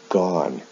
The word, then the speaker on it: gone: in the past participle the spelling of the ending is the same but the pronunciation is different o o-n-e with do is pronounced done o-n-e with go is pronounced gone and then the ing